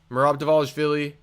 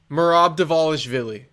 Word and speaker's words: Merab Dvalishvili: Merab Dvalishvili, Umar Nurmagomedov, we already broke it down.